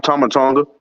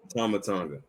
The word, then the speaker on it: Tama Tonga: Is it Tommy Tonga? I want to make sure I say it right. Tama Tonga. Tama Tonga.